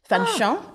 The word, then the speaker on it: Fanchon: It's French. Fanchon. Fanchon. Is the way you would pronounce it.